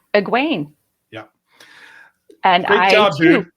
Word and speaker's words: Egwene: So Kitty, what's the actual pronunciation? You got it right. It's Egwene.